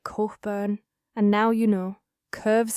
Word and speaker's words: Cockburn: Cockburn Street, locals say it, Corkburn, and now you know, curves away from the Royal Mile in a long sweeping arc, dropping steeply down toward Waverly.